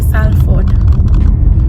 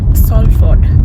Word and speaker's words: Salford: Like you cannot say Salford, it is Salford.